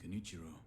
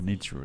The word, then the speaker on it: Genichiro: He thanked me for defeating Kenichiro. I see. Genichiro, that's how you say it.